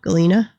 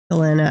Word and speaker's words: galena: Galina. Galena. however you want to pronounce it.